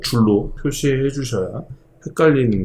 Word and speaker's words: 줄: 1줄. 줄이라고 읽어요. 줄.